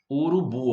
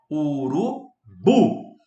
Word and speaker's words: urubu: Urubu, ó. Urubu. A sílaba tônica é a última.